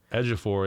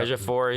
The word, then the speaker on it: Ejiofor: Ejiofor, yeah. Ejiofor.